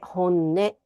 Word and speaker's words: 本音: 本当の音と書いて本音と読みます。